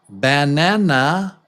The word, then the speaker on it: banana: About about uh about not banana. Banana but banana. Banana. So this the stressed vowel is little longer than the others, right? Banana. Banana. It takes more time.